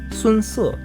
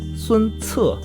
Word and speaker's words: Sun Ce: The consonant C in Pinyin will always sound like ts rather than s, s, or k. And one more example, the fearless general Sun Ce. Some of you guys say it like Sun Ce, but it should always be Sun Ce.